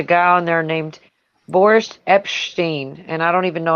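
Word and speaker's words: Epshteyn: i'm saying that right his name is spelled e-p-s-h-t-e-y-n so it's like you're saying epstein with a bunch of peanut butter in your mouth or something it's like epstein and just you know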